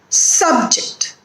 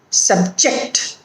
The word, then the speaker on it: subject: So we put accent or stress on the first syllable when the word is a noun or an adjective, and when the word is a verb, we put accent or stress on the second syllable.